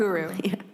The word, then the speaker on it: Ukeru: Ukeru.